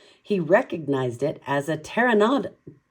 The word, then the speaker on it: pteranodon: He recognized it as a pteranodon.